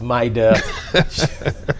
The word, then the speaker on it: Mayra: After the short break, we will be talking to, it's spelled Mayra, it's pronounced Maida, paralegal by profession, experienced in the immigration services, and she works as a liaison with Atlas Immigration Foundation.